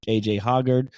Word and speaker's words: A.J. Hoggard: One of the best backcourts in the country with Tyson Walker and A.J. Hoggard. That's how you pronounce it.